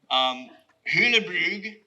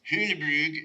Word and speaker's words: Hulebrug: Hulebrug, that's how it's pronounced, Hulebrug in Belgium, where I got to sit across the table from Leon Krier.